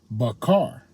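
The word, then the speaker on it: בָּחַר: right Bahar all right transliteration Bahar pronunciation barar all right now we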